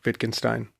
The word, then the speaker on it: Wittgenstein: And I think about the language is like your, I'm going to get his name wrong, Wittgenstein.